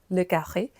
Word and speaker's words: le Carré: I don't know it has an inflection so I pronounce it in French as uh le Carré.